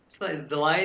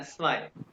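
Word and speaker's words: zwei: बाद स्वाय यह देखो एस के बाद स्वाई नहीं कहना स्वाय आइंस स्वाई ये पी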